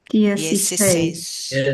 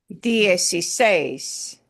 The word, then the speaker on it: dieciséis: Dieciséis.